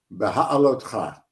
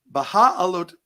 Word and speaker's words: Beha'alotcha: So you're going to have to help me again with the pronunciation of this week's Parsha. Help us out. Beha'alotcha. All right. Baha'alotcha.